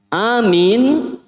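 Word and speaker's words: آمين: Amin tulisannya seperti itu cara baca yang benar a dibaca 2 harokat itu namanya mad badal dia dibaca 2 harokat a begitu tidak sampai 4 apalagi 6 Masya Allah begitu tidak hanya 2 harokat saja A itu dua harakat min itu Mad Arid lissukun matahari dari sukun itu boleh 2 harokat boleh 4 harokat boleh 6 harokat berarti kalau kita mau Anya dua minnya dua berarti Gimana bacanya amin Masya Allah amin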